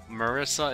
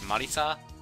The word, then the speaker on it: Marisa: I generally don't like Marissa isn't Marissa it's Marisa it's just easier for